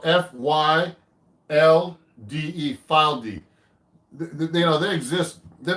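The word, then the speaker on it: Fylde: a nice guitar made in England they've called this spelled f-y-l-d-e file d they know they exist they're not really big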